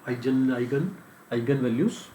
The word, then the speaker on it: eigenvalues: तो मतलब प्रोनाउंस कुछ भी कर सकते हो, आइगन वैल्यूज।